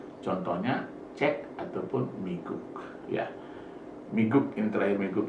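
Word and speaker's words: 미국: Jadi miguk ini bukan miguk, tetapi miguk, karena di akhir ini berbunyi K.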